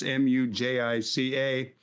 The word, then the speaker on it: Mujica: The former president of Uruguay, and I hope I can pronounce his name, Jose Mujica, that's Mujica, who had been billed as the poorest president, died at 89.